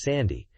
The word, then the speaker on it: 3D: suitable for young children 3D stick is internally read as Sandy due to a Nintendo pronunciation preference the N64 adapter couldn't